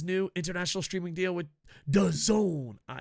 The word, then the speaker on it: DAZN: international streaming deal with the Zone it's d-a-z-n but it's pronounced the zone and the fact that